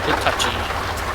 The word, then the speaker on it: Hitachi: Welcome to this is what Hitachi. Is that how you pronounce that? Yes, sir, Hitachi.